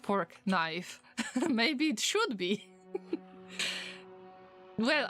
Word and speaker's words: Fortnite: am pronouncing it goodly fork knife okay fork knife so I pronounce fortnite badly it should be fork knife look he's beautiful he's